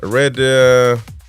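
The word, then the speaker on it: Redheugh: Red uh, red huff red, whatever.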